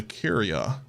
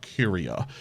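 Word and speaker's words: Kuria: this pipe here you will see there's a curier so it's spelled k u r i a curier curia if you scan every single one of these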